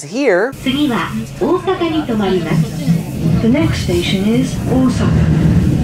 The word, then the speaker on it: Osaka: The next station is Osaka. That it is in fact Osaka, so make sure you say it right.